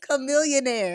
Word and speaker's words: Chamillionaire: chillionaire chil no it's not it's chillionaire it's Chamillionaire is it Chamillionaire that's not how you spell that there's another rapper from uh rap [